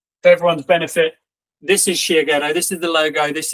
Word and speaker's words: Shiageto: right and just for everyone's benefit this is sh ghetto this is the logo this is the name this how you spell it this is a pillow made by my